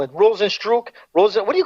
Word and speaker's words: Rozenstruik: Rozenstruik. What do you call it? Rozenstruik. Rozenstruik. I like it because he strikes very hard. He hits hard. It's Rozenstruik. It looks like Struik. It's Rozenstruik. And you know I watch